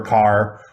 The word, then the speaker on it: Kerr: her name john k-e-r-r but she pronounces it car some people say car some people say cur interesting okay if anyone